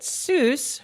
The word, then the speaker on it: Seuss: Um, Dr. Seuss liked that Seuss rhymed with Mother Goose, so he adopted that pronunciation rather than SA, which is the correct German pronunciation.